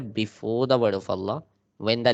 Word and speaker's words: Allah: Okay, this is Allah. This is Allah. Okay, but if it's getting the kasra, if it's getting the kasra before the word of Allah, then it pronounced light.